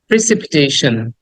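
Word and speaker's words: precipitation: উচ্চারণ করা উচিত এরকম প্রেসিপিটেশন প্রেসিপিটেশন প্রেসিপিটেশন সন সন না এটাকে অনেকে আমরা সন উচ্চারণ করি টি আই ওন যেখানেই পাবা সেখানে সান নট সন সান এখানে স দেন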